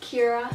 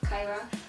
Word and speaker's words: Kira: My name is Kira. It's pronounced Kira, not Kyra.